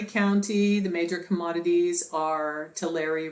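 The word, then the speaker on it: Tulare: the major commodities are tillery rhymes with dairy so it's always milk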